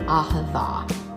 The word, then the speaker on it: Ahavah: Ahavah, yes, you did.